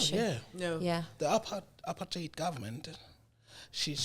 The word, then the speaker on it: apartheid: I sound like I'm saying appetite. I think you almost like to make it sound a little bit more harsh.